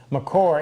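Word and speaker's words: makore: Actually, that's not how Melcott pronounced it. Macor, M-A-K-O-R-E, and that stuff is terrible.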